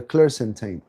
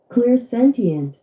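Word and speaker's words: clairsentient: And the clar the cl the clarent the clarentine. I don't know how to pronounce that one. The clear clear. Clear sentient.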